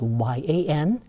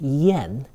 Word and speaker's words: yan: When you see the A in these four sequences, the A is pronounced more like an E vowel. Okay? So, for example, the word for swallow, which is spelled Y A N, is pronounced yen, not yan.